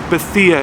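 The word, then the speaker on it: Bethea: just want to confirm that it is Jalil Betha is a proper pronunciation of his last name so I'm going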